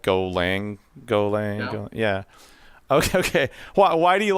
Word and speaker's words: Golang: Now, I saw that you built this in Python and Go, which are Golanga. How do you say that? Is it Golanga, like German? Yeah, Golang. Golang, like Dulang.